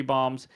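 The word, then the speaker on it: Bohm: seven days um Juan stto tied at three bombs and speaking of bombs even though I was corrected and his name is pronounced bom which thank you for that correction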